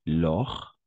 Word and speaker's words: Laure: Laure. N'oublie pas la combinaison des voyelles A et U. On va prononcer comme un O, c'est-à-dire l'or.